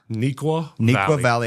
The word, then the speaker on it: Neuqua Valley: So help me with the pronunciation of your high school. Neuqua Valley High School.